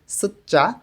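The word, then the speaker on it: 숫자: এখানে সুচ্চা অর্থ সংখ্যা ত ধ্বনির বাচ্চিমের পরে যখন জিউত আসে তখন এই জ এর উচ্চারণটা চ এর মতন হয় এখানে উচ্চারণটা হবে সুচ্চা সংখ্যা ইল এক ই দুই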